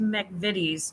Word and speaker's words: McVitie's: Pronounced McVitie's chocolate hobnobs.